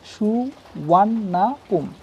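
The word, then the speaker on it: Suvarnabhumi: The name সুবর্ণভূমি is pronounced as সুওয়ান্নাপুম। তাহলে সুবর্ণভূমি যে শব্দটা রয়েছে বা নামটি রয়েছে সেটা সুওয়ানাপুম নামে উচ্চারণ।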